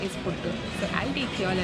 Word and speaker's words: puttu: made puttu and Ellen kept on saying puttu putti, puttu putti, and the kid was like, no, you're not pronouncing it right. They have not watched that episode, do watch that episode. So he's made puttu in this.